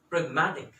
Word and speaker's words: pragmatic: the next word is pragmatic the pronunciation is break ma tick it is basically dealing